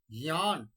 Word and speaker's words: ज्ञान: उच्चारणं कुर्वन्ति ज्ञ ज्ञ गमला ग नास्ति अत्र ज अस्ति आरम्भे ज अस्ति अतः ज्ञ ज्ञ ज्ञान ज्ञान तो उच्चारणे अस्माकं परिष्कारः